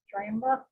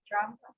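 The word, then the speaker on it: Dramda: say his last name d-r-a-m-d-a how do you pronounce it drama drama so if he's going to be our our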